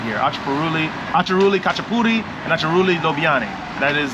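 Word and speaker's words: აჭარული ხაჭაპური: Acharuli Khachapuri.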